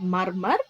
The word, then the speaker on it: murmur: Murmur means it is not murmur, it is murmur. This R is silent.